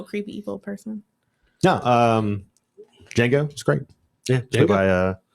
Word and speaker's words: Django: else uh you're next django okay the i was like they're not going to think of this because the d is silent i still think it's